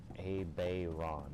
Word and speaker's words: Abaddon: hell he pronounces it if our zone on is actually pronounced our Zane and then Abaddon should actually be pronounced as a Bay Ron or whatever just like that stick